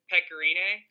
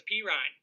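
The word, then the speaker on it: Pekka Rinne: didn't have to start Pecorine. I'm glad you pronounced his name right this time. Yeah, to let y'all know how little I know about hockey, I thought it was P. Ryan the whole season until my friend Brandon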